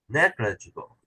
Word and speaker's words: negligible: negligible that's better negligible still a little too much emphasis on on the glit make it come down negligible come back up with this third syllable one up three up two down four down negligible negligible that's it NE